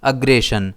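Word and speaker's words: aggression: इसे हम प्रोनाउंस करेंगे अग्रेशन। इसमें स्ट्रेस जी पर रहेगा। इसके सिनोनिम्स हैं होस्टिलिटी, असल्ट, बेलग्रेंस और ऑोजिट वर्ड्स हैं पीस, काम, फ्रेंडलीनेस।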